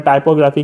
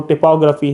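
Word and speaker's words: typography: लोग आजकल अपने आसान अल्फाज में टाइपोग्राफी कहते हैं, वैसे इसकी जो प्रोनाउंसिएशन है वो टिपोग्राफी है।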